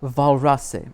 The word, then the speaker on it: Walras: The mathematical treatment of preferred outcomes, or utility, was first formalized by Leon Walras, pronounced Walrasse. Okay, Leon Walrasse, and was